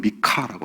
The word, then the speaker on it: 미가: 미가. 발음은 미카라고 하죠.